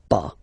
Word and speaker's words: pas: have to put this pas. Okay, so first ne, then the verb, and after that, pas. Okay, we write it PAS, okay, but as usual, final S is not pronounced, so it's pas.